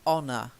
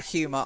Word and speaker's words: honour: Honour, the next one. To honour. Honor. That's right. You actually read out humour, honestly. So honour. That's one of the words where I think your brain went, humour, I know that word. But when you look at it, the spelling's completely different. Honour.